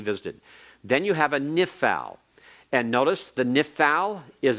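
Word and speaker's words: נִפְעַל: know the Hebrew conjugation the name is nif Al listen to the sounds of the words nif FAL nishmere nifcad all right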